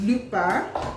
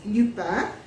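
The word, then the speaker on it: Lupin: second season met second part to it's called Lupa uh if you go if you search for it it's it's spelled l u p i n but it's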